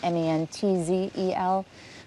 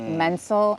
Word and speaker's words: Menzel: So my real spelling of my name is Menzel, which everyone would say Menzel, and I had a lot of self-hatred about